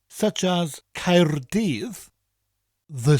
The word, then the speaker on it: Caerdydd: The first syllable ends with a rolling R, Caer, and the double D at the end of the second syllable gives us a th sound, dydd. So the full word would be Caerdydd.